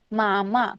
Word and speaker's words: मामा: मराठी में हमें कहना है मामा. कैसे प्रोनाउंस करना है?